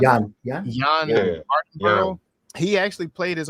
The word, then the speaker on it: Jann: I think it's pronounced John or Jann. Jann.